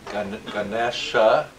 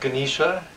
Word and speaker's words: Ganesha: who don't know I the pronunciation is G Ganesha not ganisha um so Lord Ganesha